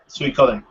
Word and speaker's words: Suikoden: and I, decided we would just go with Suikoden, and that's what I've always called it since then. So there's probably someone out there yelling at me right now for mispronouncing the game. No, it's correct. Suikoden.